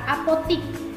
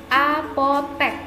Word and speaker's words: apotek: Contohnya, kita sering menggunakan kata apotik. Sebenarnya itu salah, yang benar adalah apotek.